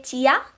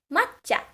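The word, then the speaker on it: まっちゃ: So don't say chia. No, that's not the way you say it. So, ma blank chi ya. It becomes matcha. Matcha. Again, I said that you have to double the consonant sound.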